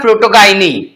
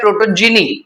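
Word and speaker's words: protogyny: Then you also have प्रोटोगाइनी, people also pronounce this as प्रोटोजिनी, तुम्हारे पर जैसे pronounce करना है।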